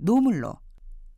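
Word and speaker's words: ᄂᆞ물: 저는 발음에 가깝게 들리던데요 참기름은 지름으로 바람은 보 마지막에 들린 나물은 노물 참고로 앞서 공항에서과 혼자서의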